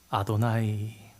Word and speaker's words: 아도나이: 유대인들은 성경을 읽으면서 하나님의 이름을 발음을 안 해서 잃어버려서, 원래도 하지 않아서 아도나이, 주님이라는 히브리어로 발음합니다.